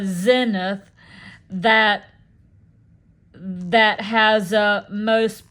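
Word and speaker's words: Senath: way out in the middle of nowhere um in southoutheast Missouri um is a community called Senate pronounced uh uh uh Zenith that that has a most uh uh peculiar and famous ghost.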